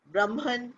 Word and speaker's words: Brahman: the conscious, the Atman, the Brahman, as you have told me to pronounce it, uh, and the rest of it is an illusion, which is Maya.